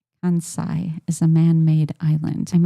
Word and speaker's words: Kansai: Okay, so let's take a look at Oh, Robert's saying it's pronounced Kansai, Jeff.